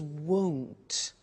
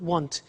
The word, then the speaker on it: won't: with the money is won't be careful with the pronunciation it's not want its world so the